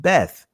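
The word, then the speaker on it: בית: to the bias and the israeli language is pronounced beth and let's see what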